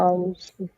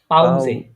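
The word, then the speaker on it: Pause: পাউসে পে। পাউজে। পাউসে পাউসে। হ্যাঁ, পাউসে। এস উচ্চারণ করবেন, এটা জে এর মতো পাউসে। উচ্চারণ করবেন।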